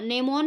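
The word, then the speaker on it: gnomon: of mathematical geography उन्होंने नेमोन नाम का एक इंस्ट्रूमेंट डिस्कवर किया था उस इंस्ट्रूमेंट का नाम क्या है नो मैन नो मैन जी जी साइलेंट है इसमें एन ओ एम ओ एन नो मैन ठीक है नो मैन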